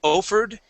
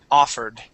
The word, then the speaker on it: offered: just a little different this is an a sound okay on the word offered instead of offered it's a offered offered okay one more time offered